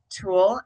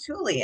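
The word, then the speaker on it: Tule: So I was saying it tulle and then I talked with Jane Porter who's the founder and she pronounced it tulie and I was like, "Wow, I've been pronouncing it wrong this whole time."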